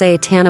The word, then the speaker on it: seitan: We're talking about seitan, pronounced seitan, a plant-based protein bomb